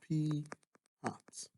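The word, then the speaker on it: p̂: with a hat so this is pronounced p hat and represents the fraction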